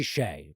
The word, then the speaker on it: Hsieh: It's Tony Hsieh, but it's spelled like fucking Hesh or something like that.